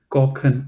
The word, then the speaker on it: Kochen: Okay, Order pasta Kuchen. correct. Kochen. Oh, okay. Kochen. Because if you say Yeah. Kuchen, that means cake.